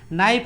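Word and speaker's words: knife: कनाइफ यूज नहीं होता है ना, क्या होता है, कनाइफ यूज नहीं होता है। जैसे देखिए एक रूल होता है यहाँ से, के साइलेंट होता है ना, एक रूल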